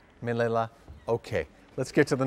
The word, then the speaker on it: Manila: Manila is that right he also rhymes with a flavor of ice cream I like to eat vanilla Manila okay let's get to